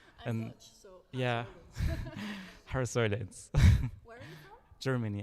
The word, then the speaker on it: Haar: I'm also just amazed how you pronounce Haar so correctly. It's I'm Dutch, so yeah, Haar Where are you from?